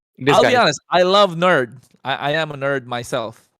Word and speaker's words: NERD: I love nerd.